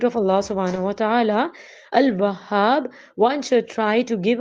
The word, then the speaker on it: Al-Wahhab: There must be double H in it. So we have to pronounce it Al-Wahhab.